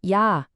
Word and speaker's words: 야: 다음은 야, 야드처럼 들리죠. 야라고 발음해요.